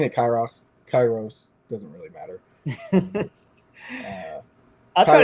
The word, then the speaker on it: Kairos: So Kairos is the Erasmian pronunciation for the Greek. It's ancient Greek, Koine Greek. So modern Greek has different pronunciation than that. So I mean, it's saying it Kairos doesn't really matter.